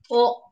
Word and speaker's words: を: O. The pronunciation is O. This is the same pronunciation, O.